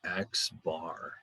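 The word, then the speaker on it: x̄: the little bar on top of it is pronounced as x bar and whenever you see a little bar like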